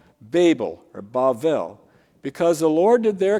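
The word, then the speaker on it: בבל: So that's the original origin of the name Bavel, Babel in English, which the Greeks turned into Babylon. Babylon is the Greek form, which crept into our Bibles of the Hebrew word Babel, or Bavel, as they would pronounce it.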